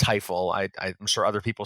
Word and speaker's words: Tajfel: I was taught it's pronounced Teifel.